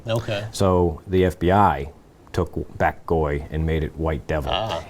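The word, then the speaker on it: Bac Gaui: He doesn't like the title, and maybe he wanted to clarify that, because his nickname within the Asian community was Bak Goi, and that's spelled B-A-C and G-A-U-I.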